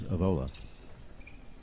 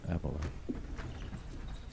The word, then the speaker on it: Avola: commented to say that I'm mispronouncing Ava's name it is avola not aola apparently par pass mineart and